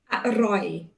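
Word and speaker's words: อร่อย: Aroi. You hear me? Aroi. Okay, can you say it one more time? I'm sorry. Aroi. Aroi. Great. Yes. Fantastic. Aroi.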